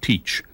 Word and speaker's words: Thatch: A few years later, Blackbeard's assumed name of Thatch, sometimes pronounced Teach, appeared on this map, along with the first written reference to a lighthouse in the area.